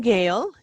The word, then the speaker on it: Gail: all right um well pronounce my name gail g-a-i-l like sale but with a g and gail and